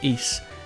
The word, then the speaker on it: Ys: today I'm looking at East 6 The Arc of nepistem E6 spelled Ys but pronounced East is a single player